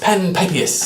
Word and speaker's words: Panpipius: That's how it is spelled phonetically, but he says Panpipius.